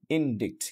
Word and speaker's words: indict: যেমন আমি যদি এখানে দুটো শব্দ লিখেছি ডিইবিটি, এটা অনেকে বলতে পারেন ডেপ্ট, এবং এর পরের শব্দটা আমি লিখেছি INDICT, ইনডিক্ট, কিন্তু অ্যাকচুয়ালি এই প্রথম শব্দটাও ডেপ্ট হবে না এবং এইটাও ইনডিক্ট হবে না।